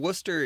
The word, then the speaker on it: Worcester: And Worcester is, it's not spelled like Ohio's Worcester.